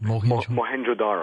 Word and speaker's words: Mohenjo-daro: He has said that the melting bricks at this town you just mentioned, how do you pronounce that? Mohenjo-Daro.